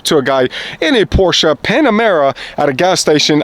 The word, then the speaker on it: Porsche: with the Porsche owners it's not Porsche it's Porsche and the reason I know that is because while the first time I ever come up to a guy in a Porsche Panamera at a gas